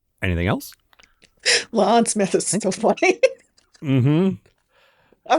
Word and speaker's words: La'an: Just like Pike would be the one telling everybody, no, that is La'an Smith. Yeah. Say it right. All right. Anything else? Lon Smith is so funny.